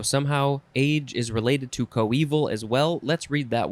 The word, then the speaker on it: coeval: And the synonym is our next word, which is pronounced coeval.